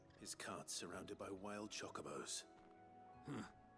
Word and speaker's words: Chocobo: Like I always, growing up, I always heard them called chocobos, not chocobos. At least they're not putting emphasis on the second O and just be like chocobos. You're putting emphasis on the wrong syllable.